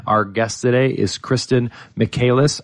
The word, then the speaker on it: Michaelis: And again, our guest today is Kristen Michaelis. I mispronounced it last time I said it, so I'm going to say it twice correct this time. It's Kristen Michaelis, and she is the